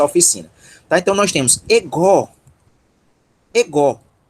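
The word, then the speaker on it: ἐγώ: Ego. Ego. Sílaba tônica é a que está marcada com o acento. É essa daqui, ó. Essa é a sílaba tônica.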